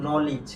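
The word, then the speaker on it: knowledge: উচ্চারণ হবে কি নিড আর এই যে এটার উচ্চারণ হবে কি বলতো নলেজ কি হবে নলিজ আশা করি বুঝতে পেরেছ এরপর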